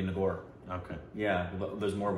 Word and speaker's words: Nagar: well I Bengali because it wouldn't be nagar it would be nagor okay yeah there's more